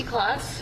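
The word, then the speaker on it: Klotz: Could you please uh state your name and spell it for the record? Good afternoon. My name is Clauss.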